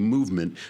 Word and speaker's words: MVMT: This one actually is spelled MVMT, movement, because for some reason these new companies, they can't use vowels.